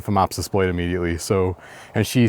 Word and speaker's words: Phomopsis: So this has what is called Phomopsis blight, and I will spell it for you because it's spelled with a PH. PH like fat, PHAT, no.